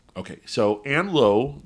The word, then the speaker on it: Lowe: not okay so Ann Lowe the last name is spelled like the hotel okay okay well is